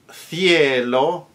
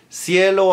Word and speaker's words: cielo: celeste, and so on, In Spain, the CI-CE combination is pronounced th, as in the letter TH in English, in the case of thing, and thong, and that kind of thing.